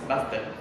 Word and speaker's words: Bastet: Tenemos a la diosa Bastet, que se pronuncia Bastet.